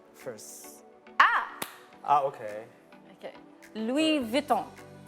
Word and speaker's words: Louis Vuitton: So this Louis is Vuitton. actually the example of not pronouncing the the last consonant.